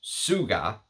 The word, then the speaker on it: TSVGA: And this is from the house of TSVGA, which apparently it's supposed to be pronounced Suga, which, whatever.